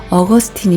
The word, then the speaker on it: Augustine: 아우구스티누스 라는 이름 은 라틴어로는 이렇게 발음 되지만 , 영어 로 는 "Augustine" 으로 발음 됩니다 .